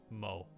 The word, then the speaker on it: Mot: that's what I want to go with for MO as it is pronounced it's spelled Mott but it's pronounced Mo